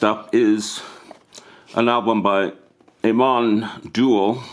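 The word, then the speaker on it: Amon Düül: is an album by Aman duel I think that's how you pronounce it it's a double album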